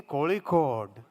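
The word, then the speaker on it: Kozhikode: pun vakar is part of calot District say k Cod you only taught me kic Cod why say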